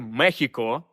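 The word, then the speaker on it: México: вона довго і вимовлялася на папері писалось Мексико але треба читати Мехіко але з часом Як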